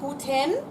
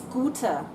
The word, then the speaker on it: gute: it out that's right there's no n on good it's not Gooden like these other three it's gouter now the grammatical reason